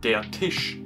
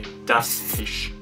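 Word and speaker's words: der Tisch: say the table but in German it's detish it's masculine because Tish is masculine it would be wrong to say d Tish and the hard part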